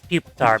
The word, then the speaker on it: Pupitar: Is it Pupitar or Pupitar? I think it's Pupitar Pupitar. because pupa. Yeah, but also Pupitar is better.